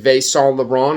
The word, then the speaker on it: Saint Laurent: This is it's pronounced Saint Laurent.